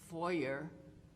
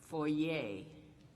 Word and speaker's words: foyer: Okay, this word has two different pronunciations. One is foyer, and the other one is foyer, spelled the same way.